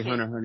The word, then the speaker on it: Hunter x Hunter: quick synopsis of it did you pronounce the X and Hunter x Hunter really I just say hunter hunter yeah you don't have to say legs well it's pretty much